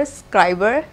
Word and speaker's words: Scriberr: boxing video so basically it's not scribble I pronounced it wrong so I'm really very sorry for that it's tribal as in subscriber scriber yeah so I'm just